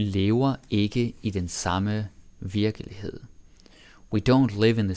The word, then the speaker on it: virkelighed: Then we got virkelighed. En virkelighed, or virkelighed. But again, that E usually doesn't get pronounced.